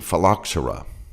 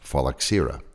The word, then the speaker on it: phylloxera: can avoid the sad inclusion of the grape phylloxera sometimes pronounced phalaxera these are sap sucking insects similar to aphids